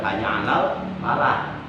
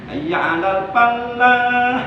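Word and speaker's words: حي على الفلاح: Itu kalau bacanya benar, hanya 'alal falah. Hanya 'alal falah. Al-falah itu artinya kemenangan. Tapi kalau bacanya salah, misal lamnya dikasih tasdid, hanya 'alal falah gitu. Berubah mananya. Apa mananya?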